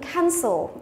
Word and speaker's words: cancel: Chúng ta có từ cancel. Từ này là động từ có hai âm tiết nhưng trọng âm lại rơi vào âm thứ nhất.